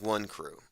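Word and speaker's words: Wonkru: call themselves one crew it sounds like one crew it's spelled w-o-n-k-r-u and it means one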